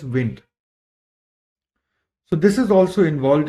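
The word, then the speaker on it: Wnt: Then there is wind signaling pathway wt but it is pronounced as wind.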